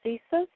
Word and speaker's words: CSIS: Um, but early on in your um, testimony, you said something about the CIA and you you said something about CESUS. Am I pronouncing that correctly?